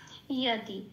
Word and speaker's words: যদি: আচ্ছা, এবার আছে ইয়াদি, যদিকে বলবো, যদিতে লাল দিয়েছি কারণ যদিটাকে বলতে হবে ইয়াদি। হ্যাঁ, 1 নম্বরে তালিকাভুক্ত করা আছে, যাকে আমরা হর্ষের প্লাস অন্তস্থ ইয়া বলে উচ্চারণ করি, সেই জন্য ইয়াদি।